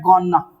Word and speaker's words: gonna: उसकी जगह पे आप बोलेंगे गॉना क्या बोलेंगे गना बोलेंगे गना ठीक है ना ये ध्यान रखना